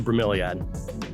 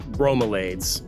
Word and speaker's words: bromeliad: tell you it's a bromeliad you know a lot of people come to my tour they call these bromelains i am quite sure it's pronounced bromeliad bromeliad but you know do